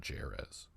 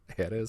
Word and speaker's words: Jerez: Jerez, probably not Jerez. Jerez, Spain. That's a pretty white pronunciation, I think. Yeah, it's from Jerez. I'm sure that's a soft J.